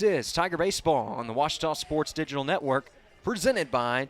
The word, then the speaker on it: Ouachita: come back this is Tiger baseball on the washto sports digital Network presented by Taylor King law